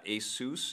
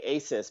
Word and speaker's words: Asus: you saw one from Asus is it ASIS or ASIS how do you say it yeah its most people say ASIS but it is Asus yeah you're right so